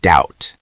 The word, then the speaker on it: doubt: Take the word doubt. D O U Bt. That B is silent.